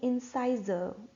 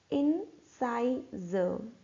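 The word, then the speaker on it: incisor: इन्हें हम बोलते हैं इंसाइजर। इंसाइजर, र हमारा साइलेंट रहेगा, इंसाइजर।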